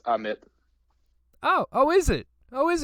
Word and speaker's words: Ammit: The first M is silent. It's Ammit.